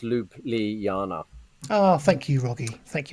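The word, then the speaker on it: Ljubljana: slovenia was he knew already um and it's pronounced lupe li yana ah thank you rogie thank you mate we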